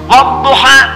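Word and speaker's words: والضحى: Bacanya A. Saya pernah bacakan pada orang Afrika yang biasa baca pakai E. Dia pakai e. Saya baca pakai A. Wadduha.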